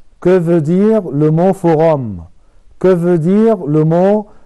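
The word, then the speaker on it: forum: نطق كلمة فوغام بتتقال بالطريقة دي، فوغام، ما تتقالش فوغيم، لا هي اسمها فوغام.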